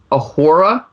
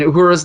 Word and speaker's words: Uhura: Did you say Ahura? Uhura. How do you say her name? Uhura, I think right? it's Uhura. Uhura.